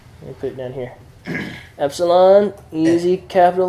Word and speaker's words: epsilon: Everybody say epsilon. Epsilon. It's E as in met.